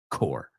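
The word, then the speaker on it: corps: And uh it's a good way to remember that that word, even though it has a P and an S in it, is pronounced core, right?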